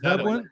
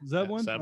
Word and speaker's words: Zebelian: We're here to talk to Nick Zebelian. So shit, did I just say it wrong? Yeah, I think you nailed it. I think you actually got it. Zebelian. Zebelian, Okay.